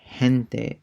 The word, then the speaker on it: gente: And for that, it's like the H in the word hot, but it's more raspier. Gente, people.